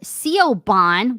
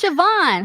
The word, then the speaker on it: Siobhan: next up we have Co Bond wait that's not how you say it it's Siobhan hello everybody says my